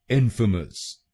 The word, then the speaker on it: infamous: तो बनेगा इनफेमस इनफेमस इन फ मस इन फ मस इनफेमस इनफेमस। और ये ध्यान रखिए कि हमको पहले शब्दांश पर यानी आई एन पर जोर डालना है।